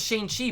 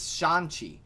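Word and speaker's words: Shang-Chi: um sean okay i thought it was shane chi but in the trailer he his character pronounces it as shanxi so i'm assuming it's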